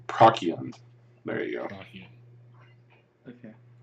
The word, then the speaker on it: Procyon: Like I'm gonna say the hard C. Procyon.